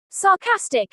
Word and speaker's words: sarcastic: Sarcastic is pronounced as sarcastic. The stress falls on the second syllable.